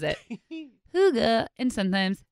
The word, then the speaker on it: hygge: Hygge, and sometimes hygge.